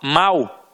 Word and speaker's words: mal: Não, isso não existe, a pronúncia é a mesma.